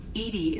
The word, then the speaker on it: EDI: why are you named Edie Edie is the phonetic pronunciation of EDI that is an acronym for enhanced defense intelligence how are you getting